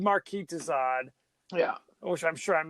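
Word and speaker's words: Marquis de Sade: like okay we said Marquee Dad yeah which I'm sure I'm mispronouncing his name Marquee dad like like sadism that's where they you get sadism although I will tell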